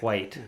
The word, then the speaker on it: white: white i don't know white i i guess you pronounce the h before the w yes quite indeed well